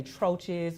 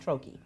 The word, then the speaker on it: troche: e some people you may hear them say troes or something like that but it's it's actually pronounced Troy so a Troi is just a little square